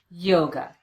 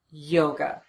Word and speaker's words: yoga: Same thing happens with the word yoga. The second syllable is unstressed. We replace the letter A with the unstressed vowel, the sound, and we get away from that syllable as quickly as we can. Yoga. Yoga.